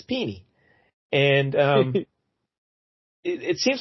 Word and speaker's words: Pini: It's Pini. There's a lot of ways that could go, but it's Pini.